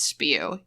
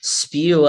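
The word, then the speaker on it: S.P.E.W.: do i think that her club name is pronounced spew yes like she's being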